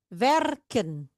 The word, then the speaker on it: werken: Werken kerja di e-nya dibaca pendek dibacanya. Iya tidak ada yang tua ya.